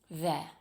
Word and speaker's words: they're: There. It's just th and a short uh sound.